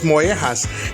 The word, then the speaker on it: mollejas: bread is of course moas and the Double L is pronounced like the letter Y and the J is pronounced like the letter H although organ meats are